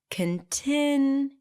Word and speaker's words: continue: The primary stress here is on the second syllable. Continue.